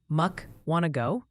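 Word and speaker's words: Mukwonago: One viewer said to think of it like you're asking a question. Muk wano.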